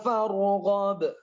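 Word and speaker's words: فارغب: Wa ila rabbika farghab. Wa ila rabbika farghab. Wa ila rabbika farghab. Kita sering membacanya. Fa idza faraghta fansab wa ila rabbika farghab. Kita lupa qalqalah kubra, harus dikubrokan, dibantulkan.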